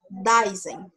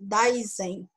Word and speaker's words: Dasein: O Heidegger, ele defendia a existência do Dasein, ou Dasein. É mais ou menos essa pronúncia, que significa o ser aí, ou ser aí.